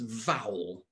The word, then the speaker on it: Vowel: This is wonderful, because of course this service has a wonderful name, and its name is Vowel. This rhymes with bowel and foul.